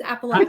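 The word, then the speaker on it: Appalachian: Many of you pronounce it differently, but that's the right way. Uh, is Appalachin.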